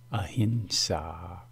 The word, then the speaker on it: ahimsa: ahimsa means uh Enzo there is power in the term ahimsa and precise pronunciation permits access to the power when you pronounce the term as a hint saw you were joining the tradition of the great Jane saints who have practiced a